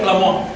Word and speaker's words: Tlamoa: Esto es una, digamos que un mexica lo pronunciaría Tlamoa, ya en agua clásico.